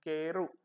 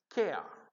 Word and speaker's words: care: What we pronounce generally, mother tongue influence people, what they pronounce keru. It is a wrong. It has to be pronounced care, K-R.